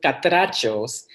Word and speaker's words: Catrachos: I'll sorry sorry uh so it's katos but some people I think that I've seen